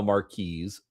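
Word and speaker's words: marquis: Yeah, I'm just going to go with marquee because that's the French way of pronouncing it and it's written in French and even though I don't, you know, I speak Mkin, not French.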